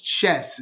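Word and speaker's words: Schiess: uh it's written by caitlin chess is how she pronounces her name and uh her argument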